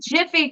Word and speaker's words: Jif: I remember Jiffy, and it's Jif. And it's Jif. Yeah, and like Mopar Bill says, we spelled out Meyer. Apparently we didn't. We were saying it wrong as children.